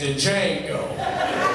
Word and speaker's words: Django: X Barack Obama and Django dude behind was like the D is silent man uh hi my